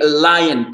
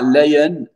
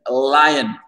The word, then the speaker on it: lion: Et lion, pas lion, lion, Déborah. On voit bien le I, lion.